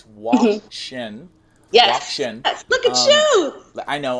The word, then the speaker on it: WOCSHN: and I'm super uh I always figure think I'm going to pronounce it wrong it's w Shin look at you I